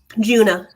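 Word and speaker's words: Djuna: pronounce her D Juna junah oh Juna you don't pronounce the d yeah the D silent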